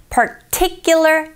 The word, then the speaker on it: particular: particular T 이 부분에 강세 주시고요.